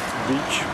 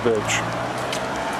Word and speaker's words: beach: One man told me that in my videos I pronounce the word beach as birch. But now I know the difference. We have two words, beach and birch.